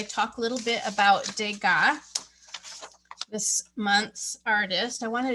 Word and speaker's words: Degas: a little bit about degas this month's artist i wanted to show you his name okay it looks like dagus doesn't it but he's french and we pronounce that de ga can you say de